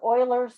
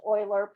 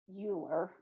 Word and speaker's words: Euler: symbol e this is euler's number and it is pronounced euler please don't say euler that's not correct okay it's a german name so um it's euler like o-i-l-e-r but spelled e-u-l-e-r so this is e